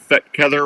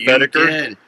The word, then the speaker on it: Fetkether: And did you notice that I said Fetkether right instead of Fettiker?